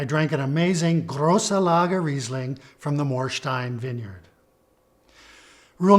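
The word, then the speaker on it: Riesling: the vineyard name Morin the IE combination is pronounced e as in the very important word reasing if you put these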